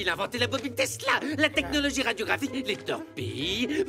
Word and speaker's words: Tesla: Ça se prononce Tesla. Nikolai Tesla.